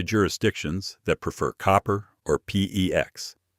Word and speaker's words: PEX: that prefer copper or PEX. PEX rhymes with flex.